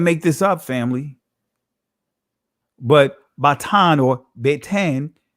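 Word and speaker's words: בטן: Batan is how you pronounce it in the ancient language, but you see beten, right, which is the Israeli pronunciation of the word.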